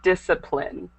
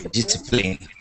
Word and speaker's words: discipline: a lot of times most of the times it's silent so it should be discipline okay displine and then this word should